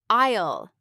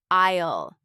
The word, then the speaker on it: aisle: Isle. That's another key word. It's spelled a i l e, but the s is silent. Say it with me. Isle.